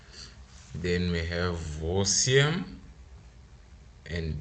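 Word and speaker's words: восемь: Then we have vosiem and deviat, soft sign again, right?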